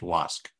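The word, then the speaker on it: WASC: region and so that has the acronym WSC but it's still pronounced wasque so for one who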